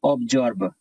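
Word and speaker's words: absorb: इसका आंसर है ऑब्जर्व, ऑब, ये भी ऑब, और SORB जर्ब, मतलब आत्मसात करना।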